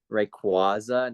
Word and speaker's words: Rayquaza: greed like Ray Quan how do you say Rayquaza not like the not like the freaking holiday Brian not like are